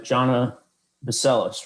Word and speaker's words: Johnna Bacelis: transportation communications union and i'm talking with uh jhana baseless right that's how you pronounce it yes yeah jonah baseless um and